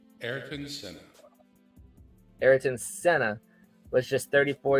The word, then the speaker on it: Ayrton Senna: Ayrton Senna.